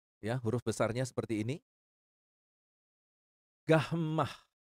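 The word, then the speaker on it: γάμμα: huruf besarnya seperti ini gahmah seperti pada kata gula Delta ya perhatikan huruf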